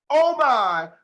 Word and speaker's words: Omai: to look her up is dr oh my kofi that's the only way to say her name i'm sorry ladies and